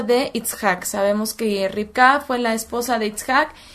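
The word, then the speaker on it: רבקה: su idioma original esto es en hebreo se pronuncia rica y bueno éste se los voy a copiar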